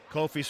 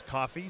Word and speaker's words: Kofi: I just been informed the pronunciation is not Kofi it's coffee so I apologize awesome